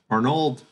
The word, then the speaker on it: Arnold: due to um to Arnold I think I've heard Russian people pronounce it like Arno or something um and I think